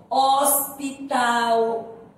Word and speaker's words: hospital: Como nós já falamos na sala, a gente não ouve o som do H. Você ouve só o som da vogal.